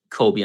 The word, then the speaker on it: Kolby: ig handle is just kobe underscore and kobe is like spelled like the cheese with a k so k-o-l-b-y underscore